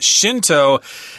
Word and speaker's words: Shinto: there shun del but pronounced Shinto in Japanese at least the way the Americans would say it yeah and so it